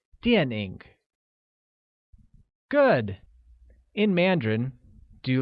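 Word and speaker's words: 电影: look movies translates to DNA which is pronounced with a falling tone on a and a falling rising tone on I like DNA good in Mandarin do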